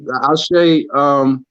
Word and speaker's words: ASHE: Am I pronouncing it correctly? Yeah, ASHE.